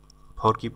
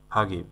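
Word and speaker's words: forgive: মানে হচ্ছে ভুলে যাওয়া ফাগিব ফাগিব ফরকিব না ফাগিব মানে হলো ক্ষমা করা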